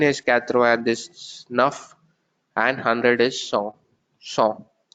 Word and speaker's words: cent: T is not there, so it's cent.